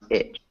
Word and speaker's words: itch: Beach, Yeah, and the other word has a short I sound, so it's an I sound. So like when you pronounce itch, itch.